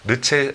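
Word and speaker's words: Le Chat: 미스트랄이 그요 2월 달에 르체 르체 하는 최신 이제 프랑스 어로는 체라고 읽으니까 체라는 서비스를 이제 오픈을 해서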